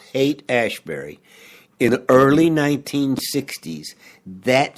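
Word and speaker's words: Haight-Ashbury: specifically coming out of hate ashberry and if you're not familiar with hate ashberry h AI G HT ashberry some people pronounce it height but it's hate ashberry in the early 1960s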